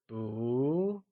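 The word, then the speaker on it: 不: let's start with not-not translates as boo and is pronounced using a mid rising tone can you try and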